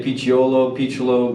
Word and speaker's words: Picciolo: Today, Lucas Picciolo. Did I pronounce it right? Some people say Picciolo, but it doesn't really matter. Yeah. So it's Italian.